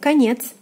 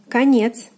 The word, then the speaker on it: конец: Next we have конец, конец. E is stressed, O is unstressed, is pronounced as A.